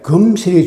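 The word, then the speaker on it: 금슬: 슬금이란 말이 이게 금자인데 이걸 이렇게 쓰면 금설이지만 그래서 이 금설이 원래 맞는데 이 몸이 변화를 우리가 발음할 때 금실이 말하기 쉽거든요.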